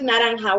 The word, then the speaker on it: naranja: Okay, let's try with naranja. Wendy, I will separate it in syllables for you.